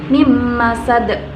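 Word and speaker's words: مِنْ مَسَدٍ: Yang ketiga nun sukun bertemu dengan mim, maka dibaca mim masad, bukan min masad.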